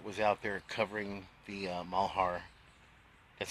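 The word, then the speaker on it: Malheur: santilli guy that was out there covering the malhar that's how you pronounce it doc malhar um incident up in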